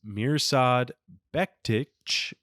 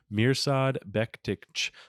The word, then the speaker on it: Mirsad Bektic: Josh Emmett wins with the first round TKO and beats Mirsad Bektic, is actually how you pronounce his name. Mirsad Bektic.